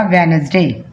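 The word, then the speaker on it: Wednesday: डी आ वाई डे जब हम इसको पढ़ेंगे तो डी साइलेंट हो जाएगा तो क्या पढ़ा जाएगा वेनसडे टी एच यू आर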